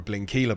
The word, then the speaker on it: Blindkilde: our social channels and it's actually blink Keila isn't it yeah I've been saying